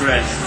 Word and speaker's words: Brezih: Someone pronounced to me as Brezih. Brezih.